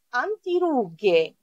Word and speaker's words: antirughe: Anti, δεν προφέρουμε αντιρρούγε. Anti, αντιρρούγε. Το γ το παίρνω από το G, H. Και το λέω γε, ρούγε. Αν δεν είχα το H, θα ήταν ρούτζε. Εντάξει, όμως το G μου το δίνει το H, εδώ. Crema per il viso.